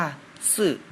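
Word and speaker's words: 四: 4 เลข 4 ใน ภาษา จีน อ่าน ว่า ซื่อ ก็ จะ เริ่ม จาก ขีด ด้าน ซ้าย ก่อน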